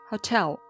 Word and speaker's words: hotel: Hotel. It's not hotel, it's hotel. Don't stress the first part, how. It's not hotel. Do stress the second part, tell.